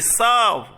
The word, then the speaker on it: salve: S-A-L-V-E, salve. Salve. Salve. L is silent.